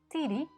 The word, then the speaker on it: tiri: with this little word titi the accent falls on the last syllable the d is short and the is long the ring must therefore